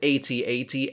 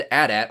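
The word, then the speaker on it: AT-AT: Galactic Civil War also according to Lucasfilm both 8080 and a DAT are correct pronunciations for the vehicle there was also an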